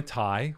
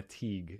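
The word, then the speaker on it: Tighe: who won the other round yes tai which i had pronounced her name incorrectly 75 of the show yeah and then she went in because i called her teague it's spelled t-i-g-h-e well you know we all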